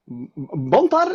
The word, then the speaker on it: Bantar: Bantar, is that the correct way to say it? Yeah. Okay, Bantar.